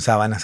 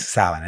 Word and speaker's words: sábana: Alguno por allí me dirá, bueno, no es sábana, es sabana. Bueno, depende de dónde le pongas el acento, ¿no? Depende de dónde pongas el tilde, depende cuál sea la sílaba tónica.